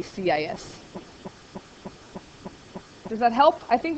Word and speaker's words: cis: you can do the, apparently it's pronounced kiss, it says in your book, kiss theta. I don't like that, so. It's just weird. I always say CIS.